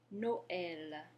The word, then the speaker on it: Noël: Noël. If you listen, you can hear that the vowels in the O and the E in Noël are pronounced separately. That's what the tréma does for us.